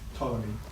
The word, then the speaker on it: Ptolemy: geocentric model was correct, Ptolemy, what? Ptolemy. And Martin tells me that Ptolemy I can't say it is the guy responsible. Is that a silent P right there?